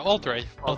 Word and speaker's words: Altirae: That was a bad part of Shadowlands, but anyway, it's Altirae? Like, is that how you say it? Yeah, Altirae, yeah.